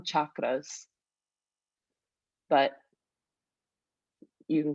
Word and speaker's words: chakras: supposed to do the chakras and some people will pronounce it like that that's how it is in the native tongue chakras but you can call